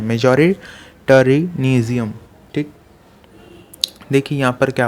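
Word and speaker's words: majoritarianism: मेजॉरिटेरिज्म इन श्रीलंका, ऐसे प्रोनाउंस करते हैं, मेजॉरिटेरिज्म, ठीक।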